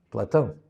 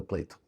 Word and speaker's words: Plato: ele desapareceu seu aluno Platon ou pleito, como se fala que Platon fala Platão. Platão inglês é pleito.